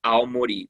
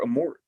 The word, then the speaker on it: Aomori: this prefect is called aomori prefecture and he goes sir there's a giant bird flying over a mor like like a murray or like a yeah they say it wrong in the dub yeah and uh i